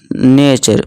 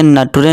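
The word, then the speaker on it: nature: Example देखिए question प्रश्न नेचर प्रकृति। अब इसे नटुरे नहीं पढ़ेंगे। ये ध्यान रखना है आपको।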